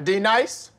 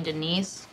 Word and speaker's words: Denise: Is there a D-Nice? If one of y'all says some silly-ass name, this whole class is gonna feel my wrath. Now, D-nice. Do you mean Denise?